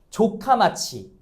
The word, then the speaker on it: 조카마치: 그 도시를 우리가 뭐라고 부르냐면 발음에 조심하셔야 돼요. 조카마치.